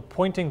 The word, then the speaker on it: Poynting: it by the way it's called a pointing vector but it's P o y NT ing because it's named after John Henry pointing who developed the concept